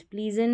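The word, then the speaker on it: pleasant: Haven प्लेजेंट, प्लीजेंट नहीं प्लेजेंट, spread jealous नहीं jealous, weapon breast.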